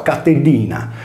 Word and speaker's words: Catilina: Sui nostri libri di storia il suo nome compare come Catilina, mentre invece anticamente era scritto Catellina e si pronunciava Catellina, che in sardo vuol dire cagnetta.